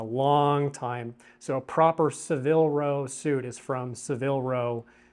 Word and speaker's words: Savile Row: gives oh no no this is Seville row bespoke generally you have to be careful with Seville row and this is how you spell it s-a-v-i-l-e because some Brands will